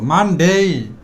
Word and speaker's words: Monday: আমরা যেটা বলব মানডে একটু টেনে বলব মানডেই সবসময় বাংলা ফলো করবা